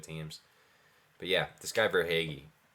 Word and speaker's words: Verhaeghe: A guy I want to mention who's actually second behind him in points is Carter Verhaeghe. Am I saying it correctly? Carter Verhaeghe.